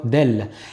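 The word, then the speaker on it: دال: Commençons par la lettre del. La lettre del s'apparente au D en français.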